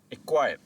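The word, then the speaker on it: acquire: For example एक्वायर। अब इस word में सी और क्यू एक साथ आ गया है तो हम सी की आवाज को प्रोनाउंस नहीं करेंगे।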